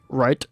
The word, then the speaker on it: route: I say route route route route. It's route.